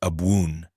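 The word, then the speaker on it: Abwoon: When Yeshua said, Abun, it did not land like Our Father. It rose and curled. The first syllable opened the throat, the second vibrated low.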